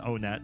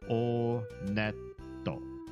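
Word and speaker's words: Onett: It is pronounced Onet. I did check the Japanese pronunciation. And in Japanese, when you go to this first town, they pronounce it Oneto. Oneto. So, Onet.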